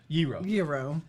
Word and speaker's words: gyro: g in that oh it's like gyro and how do you say it hero epidemic sound personal epidemic